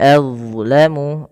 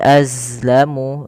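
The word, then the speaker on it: أظلم: Waman adlamu. Nah, kemudian pada lafal huruf d hati-hati teman-teman jangan menggantinya dengan huruf zai gitu ya. Waman azlamu dia bukan az tapi ya ad aibil ya tebalkan adlamu waman adlamu mimman mana kemudian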